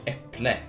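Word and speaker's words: äpple: that right there is pronounced like eple and it means Apple it's pretty similar except we have those two dots above the a uh simple easy to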